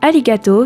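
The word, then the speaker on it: arigato: traduire en français le mot du jour est alligato qui s'écrit a r i g A T o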